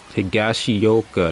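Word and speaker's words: Higashioka: Kyle Higashioa. Hagashi. That's how you pronounce his name.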